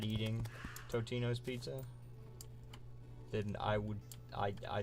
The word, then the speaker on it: Totino's: Is it Totino or Tostino? There's no S. I always call it Tostinos myself. Totinos?